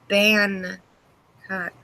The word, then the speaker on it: Bangkok: But no, it's pronounced like this. Bangkok.